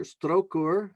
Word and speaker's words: Strokur: This image is of Stroker geyser. Strokur, if I try to say it properly, is their version of Old Faithful, right?